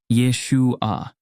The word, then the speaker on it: Yeshua: Hebrew Yeshua is pronounced Yeshua this pronunciation reflects the linguistic nuances of the Hebrew language where the emphasis is placed on the second syllable the Aramaic form also